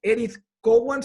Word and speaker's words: Edith Cowan: el exterior a nivel internacional la universidad es edith cowan se pronuncia bien así están australia perfectamente está perfecto